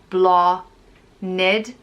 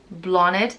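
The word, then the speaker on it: Bláthnaid: blah there's also blonde pronounced blah knid blonde which means flower and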